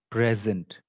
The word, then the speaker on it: present: If it is noun or adjective, the stress will be on the first part, on this one. Pray, present. It's a present.